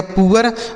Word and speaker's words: poor: तो P से हो गया दोस्तों प, इस डबल O का उच्चारण उआ हो जाता है। ठीक है, उसके बाद R से पढ़ेंगे र, से पढ़ा जाएगा पुअर, मतलब क्या होता है, गरीब होता है।